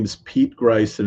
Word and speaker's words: Ghrist: Um again, my name is Pete Gryce and it's spelled g h r i s t it's just like Christ only with a g at the beginning and I'm I'm on